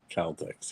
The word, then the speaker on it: Celtics: Matt says it's pronounced Celtics. Celtics, yes.